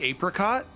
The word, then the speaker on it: apricot: So, some people call it a I say ape. Okay. Nice. The wrong people do. Sure. I pronounce it like apricot.